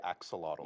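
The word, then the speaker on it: axolotl: We're all gonna learn how to say axelottle. Yeah, I probably I probably said it wrong, but I No, I think you got it right. I think you did.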